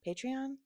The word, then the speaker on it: Patreon: Um, Patreon, Patreon. I try I t typically say Patreon like patronage.